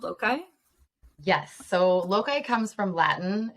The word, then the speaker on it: loci: If we pronounced it the way maybe scholars might want us to pronounce it, it would be loci, but we all agreed that sounded a little bit pretentious.